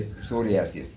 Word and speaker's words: psoriasis: And many a time, even when the diction, so P is silent, when you say psoriasis, P is silent, So like that, how that person who conceived the dictionary, how did he make it?